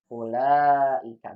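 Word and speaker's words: أولئك: Ulaika kan beda antara bacaan dan tulisan. Ulaika. Bukan dibaca ulaika. Enggak. Tapi ulaika. Seolah-olah nggak ada wawunya.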